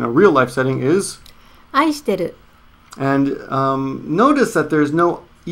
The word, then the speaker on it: 愛してる: But the casual, pronounced casual. 愛してる. 愛してる.